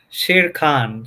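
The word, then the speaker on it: Shere Khan: it do you know can you can you pronounce all that for us Dave yeah it's it's uh Shir Khan so it uh if you have not seen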